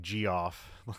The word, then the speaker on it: Geoff: So, um, so yeah, it's directed by Jeff Murphy, but spelled like Geoff, like Yes. Geoff. But I believe you say Jeff, right?